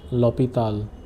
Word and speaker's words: l'hôpital: Nicola a l'hôpital. This means you bring Nicola to the hospital or you take Nicola to the hospital. This is pronounced as, because here H is silent, so the pronunciation will be with lo.